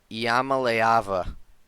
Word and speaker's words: Iamaleava: Iam, sorry, I'm gonna try not to butcher this last name. Iamaleava. That is how you say it.